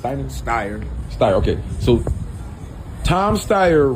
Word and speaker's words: Steyer: Steyer.